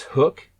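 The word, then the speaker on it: Huk: Um, the first one would be this hook, and it's it's spelled H U K. Hook uh fishing visor.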